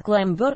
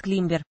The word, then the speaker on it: клаймбер: Обратите внимание, иногда вместо «клаймбер» говорят «климбер». Речь идет об одной и той же группе роз, однако «климбер» не совсем правильное произношение, но среди садоводов оно уже довольно сильно прижилось.